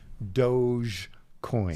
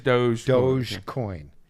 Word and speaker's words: Dogecoin: So, but I'm told it's pronounced Dogecoin. So it is Dogecoin.